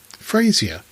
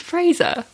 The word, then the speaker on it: Frasier: We've been rewatching Frasier on DVD, which is, I think, possibly one of the funniest series. You also say his name made. very strange. Well, say it again. Frasier. It's Fraser.